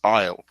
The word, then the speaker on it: aisle: up this is o it's a silent a you don't say the a so it's just aisle like this for instance is a